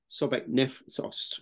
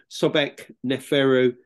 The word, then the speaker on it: Sobekneferu: moment all focus on sobeknoffro so uh uh the book is called the first female pharaoh sobec sauce so I'm saying it wrong myself now Sobek neferu goddess of the Seven